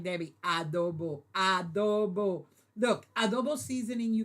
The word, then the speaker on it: adobo: Thank you, Mikey, for putting adobo. That's how you pronounce it. Not a. Adobo.